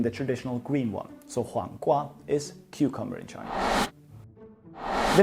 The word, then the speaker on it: 黄瓜: First of all, we can pronounce it. It would be 黄瓜, 黄瓜.